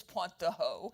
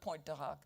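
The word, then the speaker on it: Pointe du Hoc: You know, um Reagan, I met with Reagan after the poach speech, which he pronounced correctly as Ponttoo, but all of the rest of us mispronounced and to this day call it poach.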